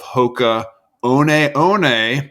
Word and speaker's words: Hoka One One: of innovation at Deckers he's the founder of Hoka on on as it's properly pronounced and I think this episode is fascinating